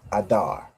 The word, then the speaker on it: Adar: Pronounced the exact same way, Adar, right? The A and the Da and the Ra join together to make Dar, Adar.